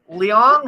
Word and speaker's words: Leong: It's written by their partner, Chris Ross Leong. How do you pronounce it?